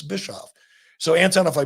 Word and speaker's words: Bischoff: I grew up with the name Bischoff. I was Bitchoff. I was Jackoff. I was Biscoff. I don't like being any of that. Some people, when I was a kid in school, people say, I don't want to say it wrong. I'll just call him Eric Bishop. I said, it's not Bishop, it's Bischoff.